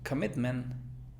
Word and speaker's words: commitment: Ahora tenemos commitment. Alguien diría commitment, o sea, como con una O, commitment. Es que aquí va una schwa.